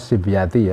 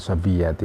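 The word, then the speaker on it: صبيتي: Bacanya sibyati ya, bukan sobiyati.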